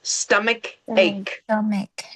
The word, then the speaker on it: stomach ache: You have two K sounds. Stomach ache.